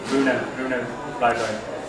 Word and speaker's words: Rune Ryberg: Get to pronounce my own name sort of Englishy, but I mean Rune Ryberg.